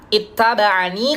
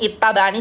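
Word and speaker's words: اتبعن: Ketika wasal dibaca eh eh fatbitu hadi alyaati sakinatan waslat. Jadi pada kalimat ini di surah Al Imran ayat 20 itu qolun membacanya dengan yaatul idofahnya di eh membacanya dengan yauz zaidah ya yanya ditambahkan ketika wasal yang semula di sini ittabaani coba diperhatikan tidak ada huruf ya sama sekali ya rasemnya secara rosem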